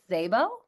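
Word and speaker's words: Szabo: I do not know how to say the letters S and Z next to it. My assumption is that one of them is just silent. So, is your last name pronounced Zabbo? Correct.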